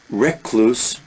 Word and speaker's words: recluse: Recluse, notice this pronunciation, not re. Recluse, some people say, but recluse is, I think, the better pronunciation.